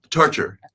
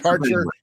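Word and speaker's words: Tarcher: the editor-in chief of how do I pronounce this Mark I don't want to mess it up is it tker or tarer torture torture okay torture perree my apologies like I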